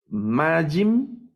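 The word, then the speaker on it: מים: Entonces, estas son otras palabras milel, se acentúan en la penúltima sílaba. Aquí tengo na, ahí va el acento, ejinajim, yadajim, reglajim, majim, shamajim.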